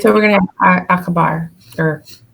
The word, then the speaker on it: acabar: Yeah, the C is always like k in C, Okay. but with the exception when it goes with E or I.